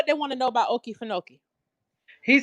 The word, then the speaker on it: Okefenokee: Wait a minute, how they pronounce it? Wait a minute, okay, a Kefinoki is in Okefenokee? is Yeah, I old know about thing. Okefenokee.